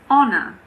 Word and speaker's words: honor: There are also a few words that start with a silent H. For example, air, honest, honor, hour.